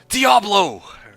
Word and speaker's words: Diablo: No, this is Diablo. Yeah. Anyway, uh Diablo is three syllables.